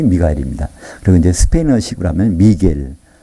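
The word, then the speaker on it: Miguel: 그리고 이제 스페인어식으로 하면 미겔. 어떤 사람들은 그걸 발음을 미구엘이라고 하는데 그건 묵음이 되는 거거든요. 미겔이라 맞습니다.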